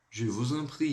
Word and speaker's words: je vous en prie: Com o S a gente vai ligar, então vai ficar com o som de Z.